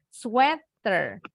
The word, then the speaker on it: sweater: ya Elsa nah ini bacanya bukan sweater kalau sweater dari kata sweet manis sweater lebih manis berarti bacanya sweather sweater dari kata sweet